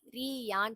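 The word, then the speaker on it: りゃ: ரீ யான் தனித்தனியா ப்ரொனவுன்ஸ் பண்ணாம நம்ம ரியான்னு ப்ரொனவுன்ஸ் பண்ணுவோம். ரியா ரியா கம்பைனா ப்ரொனவுன்ஸ் பண்ணிடணும்.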